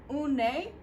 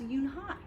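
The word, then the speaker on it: Unhei: "Eun-nae?" the girl asked, scrunching up her face. "Eun-nae," some kids chanted. No, it's spelled U-N-H-E-I. It's pronounced Eun-hai.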